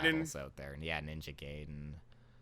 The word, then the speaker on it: Gaiden: of good Ninja boss Gaiden battles out there. Yeah, Ninja Gaiden. You call it Gaiden. I called it Gaiden for so many years. It's Gaiden. I'm just gonna Gaiden.